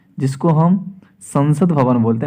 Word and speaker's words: सांसद: सांसद में, संसद और सांसद थोड़ा प्रोनाउंसिएशन, जब सांसद की बात करें थोड़ा उस पर आकर और अनुस्वार आता है, तो थोड़ा उस पर हम ज़्यादा जो है वेटेज रखेंगे, जैसे संसद और सांसद।